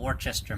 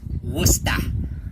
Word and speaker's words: Worcester: Actually got it from what I would call Worcester, Massachusetts, but I was very quickly corrected that it's Worcester, right? Even though there's very clearly an ER on the end of it, you're supposed to say it like it's an AH. It's a Worcester.